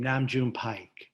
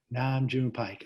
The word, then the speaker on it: Nam June Paik: Well, first of all, I pronounce his name Nam June Paik. Nam June Paik.